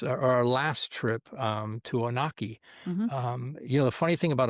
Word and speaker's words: Onaqui: Yeah, Onaqui or Onaqui, you but try to be it's fancy. yeah, but it's Onaqui, and it's um, it's a beautiful place.